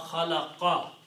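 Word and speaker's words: خَلَقَ: But if you want to continue, you will have to pronounce min sharri ma khalaqa.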